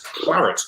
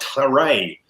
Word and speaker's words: claret: a classic example is to pronounce what English word denoting red wines are in the Bordeaux region with a final a sound that is plus Claret not Clary lovely answer there from